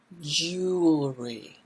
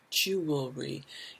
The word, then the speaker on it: jewelry: necklaces and rings jewelry careful with the pronunciation here jew your lips are going to come out jewelry oh that's a tough one the l and the r together jewelry you'll do better if